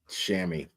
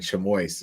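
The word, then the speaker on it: chamois: uh and uh on on a on a shammy and uh and you know it spelled chamo you know and he was reading it and he said chamo and we all just laughed because it's not pronounced chamo oh my God is still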